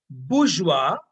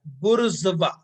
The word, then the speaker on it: bourgeois: Either you pronounce the word as bourgeois or you pronounce the word as bourgeois. आर एन जेड का sound साथ में रहेगा। बुर्जुआ बोल सकते हैं या बुर्जुआ बोल सकते हैं।